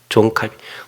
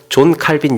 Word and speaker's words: 존 칼빈: 존 칼빈. 프랑스 발음으로는 장 칼뱅, 까르뱅, 켈빈 이렇게 여러 가지 하는데, 그냥 존 칼빈 영어 발음으로 이제 공통화됐어요.